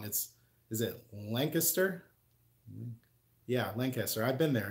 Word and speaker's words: Lancaster: Actually, I'm pronouncing that wrong. Is it Lancaster?